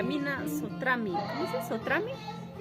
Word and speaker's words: Sotrami: ¿Sotrami? Sotrami, ¿no? Sotrami.